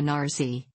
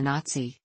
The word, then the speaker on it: Nazi: effect, as when he called Hitler a Nazi, rhymes with Kazi, emphasis on the Z, rather than a Nazi, TS.